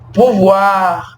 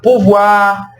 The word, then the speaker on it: pouvoir: Por exemplo, os verbos terminados em OIR, que a gente vai falar UAR, tá vendo? Então os verbos que terminar em OIR em francês, mas a gente vai pronunciar OIR como UAR, são os verbos vouloir,